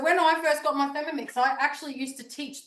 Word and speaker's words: Thermomix: Thermomix? Yeah. Did I So spell it right? It Thermomix?